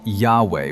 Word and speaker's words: Yahweh: Jewish colony in Egypt, the name shows up shortened as Yahu, which leads some scholars to argue for 3 syllables, something like Yahuwah. So we hold Yahweh with confidence, but not with certainty.